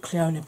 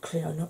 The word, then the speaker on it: Clionagh: And I'd always pronounced it Clionagh because it looks kind of Welsh, so because I've got, you know, Welsh in there, I've always pronounced it Clionagh, but apparently I'm doing it right because they've actually got